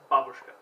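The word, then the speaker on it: бабушка: As someone who of Russian descent who speaks Russian, it's not pronounced Babushka, it's pronounced Babushka, and it means grandma.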